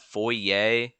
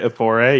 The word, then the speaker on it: foray: And this was his first how do you say that? Foyer into Foray, yeah, I think the yeah, word's foray. foyer into creating a community under his beliefs.